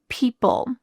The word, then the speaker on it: people: She said some people. People. Let's talk about this word. People. What's happening to the O in this word? P-E-O. It's just gone.